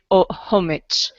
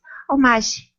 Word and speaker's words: homage: Fasten your seatbelt for a wicked homage. This Sharknado is the very definition of scared, silly. Okay, the pronunciation is homage. It's a French word.